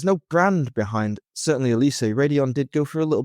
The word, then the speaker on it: Raidillon: One brand was a German brand called Elise, and another brand was, I believe, Belgian called Radion. And that's spelled, well, Elise is spelled Elyssee, and Radion is spelled Raidillon.